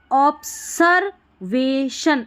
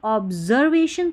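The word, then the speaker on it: observation: यहाँ पर ऑब्सर्वेशन, अगर मैं पढ़ूँ ऑब्सर्वेशन नहीं, अगर मैं बोलूँ ऑब्जर्वेशन तो ऑब्जर्वेशन आपने सुना है, ठीक है, ऑब्जर्वेशन, ज पढ़ा है तो ऑब्जर्वेशन, एस को।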